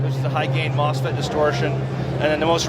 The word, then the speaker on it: MOSFET: Is it MOSFET? Mouse. Mousefet? There's a little mouse inside there. Is it Mousefet, really? No, it's MOSFET.